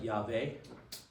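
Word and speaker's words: Yahweh: Jehovah is very Englishy way to say this. Um, it would be pronounced something like Yave or Eve.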